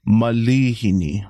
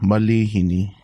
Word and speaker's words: malihini: say mispronunciation but yeah a lot of people think there's a actual a after the the L but it's I so it's going to be Malini Malini Malini yeah there you